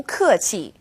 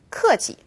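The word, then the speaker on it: 客气: Now, there's no definite rule for when a fourth tone turns neutral. And if you were to say 谢谢 or 客气 as two definite fourth tones, people would still have no problem understanding what you're saying.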